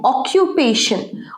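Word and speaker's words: occupation: your একটা হচ্ছে profession পেশা প্রফেশন একটা হচ্ছে অকিপেশন অকিপেশন মানে জীবিকা নির্বাহ করা পেশা হোয়াট ইজ ইউর প্রফেশন বলতে পারো হোয়াট ইজ ইউর অকিপেশন বলতে পারো এটার উচ্চারণটা অকুপেশন এটা দেখো অকিউ পেশন অকিপেশন অকু নয় কিউ অকুপেশন অকিপেশন এটা প্রফেশন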